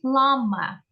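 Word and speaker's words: plumber: What about lama? Pay attention, B is not pronounced.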